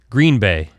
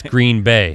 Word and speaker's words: Green Bay: the way it's not green bay it's green bay you hear it all the green yeah bay emphasis on the bay i don't know why